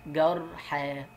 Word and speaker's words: جرحى: ألف، دي اسمها ألف مش ياء. أنت بتقول إيه؟ رضوى، جرحى، كبرى، صغرى، حبلى، نطقتها ألف ما نطقتهاش ياء.